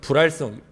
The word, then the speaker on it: 불활성: 생백신 무력해 어렵게 발라줘서 불활성 불알이 아닙니다 불화 립니다 발음을 잘 하셔야 되요 중요한 건 뭐냐면 약이